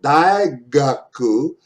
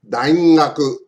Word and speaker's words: 大学: the word, for example, daigaku, its sound is very close to NG in the English, sing. So, daigaku じゃない、daingaku. Listen, 大学 daingaku. Just put a little N in there and you get the correct pronunciation of that G.